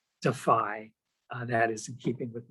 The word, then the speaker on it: DFI: The organization is called the Defense of Freedom Institute, and it's pronounced, as Paul said, DEFY.